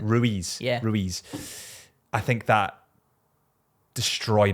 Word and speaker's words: Ruiz: I think that Anthony Joshua potentially after he got knocked out the first time by Louise, is Luiz, is that how you say it? Ruiz.